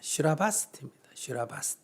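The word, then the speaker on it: श्रावस्ती: 슈라바스티입니다. 슈라바스티를 발음 비슷하게 한문으로 쓴 게 뭐다? 사위성이에요. 사위성. 우리 보통 사위성을 많이 알고 있죠. 그러나 정확한 그 말은 슈라바스티. 그러니까 인도의 여러분들이 성직한다면 슈라바스티라 그래야 돼요.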